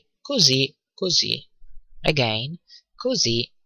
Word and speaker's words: così: : "così così" again così così "E tu?" notice that the "s" in così is pronounced like "z" ok but if things